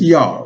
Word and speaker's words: Yah: It's pronounced as Yah, Y-A-H, Yah.